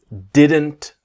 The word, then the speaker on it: didn't: did not to didn't the T sound what we want to learn is about the t is silent right so didn't very